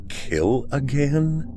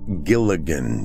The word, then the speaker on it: Killigan: new to the area kill again i'm not certain i should tell you my name she tried to grin but now seemed taken back no ma'am it's pronounced gilligan you know gilligan's island from well i won't